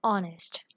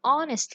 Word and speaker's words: honest: So consider an honest, an hour. So here H is written in the beginning, but it is pronounced silently. Consider this example. Sometimes it is difficult to live an honest life.